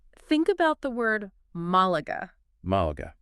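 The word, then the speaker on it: Málaga: But if you were to pronounce it without the tilde, Malaga. it would lose its Spanish flair. Yeah, it sounds so flat Exactly. compared to the proper Malaga.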